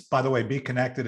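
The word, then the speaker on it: Bekonnected: it's by the way be connected is b-e-e-k-o-n-n-e-c-t-e-d so if you're hearing it uh it's spelled with a k and the b is like a b so so you know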